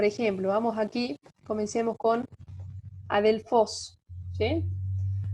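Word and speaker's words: ἀδελφός: Es decir, por ejemplo, vamos aquí, comencemos con adelfos, ¿sí? Adelfos es una palabra, ¿de qué tipo? Es una palabra oxítona que tiene acento agudo en la última sílaba.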